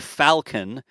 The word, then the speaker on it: Falcon: pronounce Falcon and Vulcan Falcon is like a like an F Falcon and Vulcan is like a vul Vulcan the in sounds the same to me like I don't say Falcon in Vulcan right like